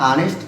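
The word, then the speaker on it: honest: ठीक उसी प्रकार मेरे भाई एन निकल रहा है, देखिए यहाँ पे एच क्या है, साइलेंट है, इसलिए क्या निकला मेरे भाई, ऑनेस्ट।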